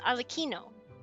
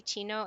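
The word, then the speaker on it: Arlecchino: It's pronounced alakino and it's just language nuances, right? Um yeah, that's what I'm hearing. People say chino and I'm like, "No, it's Kino."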